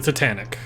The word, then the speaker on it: Titanic: my God but you you pronounced it interestingly it's the Titanic I thought it was to Tony dialect change between Elvin